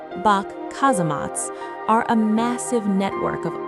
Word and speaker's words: Bock Casemates: The Bock Casemates, pronounced Bock Kazematt, are a massive network